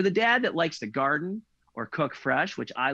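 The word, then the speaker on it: Gardyn: food with this indoor garden it's got everything from fruits and vegetables to herbs and flowering plants it's called garden but it's spelled g-a-r-d-y-n and they send you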